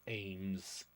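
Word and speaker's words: AMWS: nosis weapon system pronounced eggs like then we have the assault maneuver weapon system pronounced aims we have the octis'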